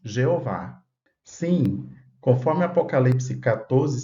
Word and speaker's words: Jeová: Em hebraico, o nome divino sempre foi conhecido, está registrado nas Escrituras como Yehová. Claro que depois o nome divino iria ser conhecido em outras línguas, como no caso do português, pronunciamos Jeová.